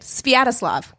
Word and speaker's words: Sviatoslav: That's how you say it, Sviatoslav.